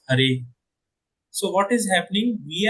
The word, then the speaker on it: Hare: When we in the vocative, in this mantra, this Hara is pronounced as Hare.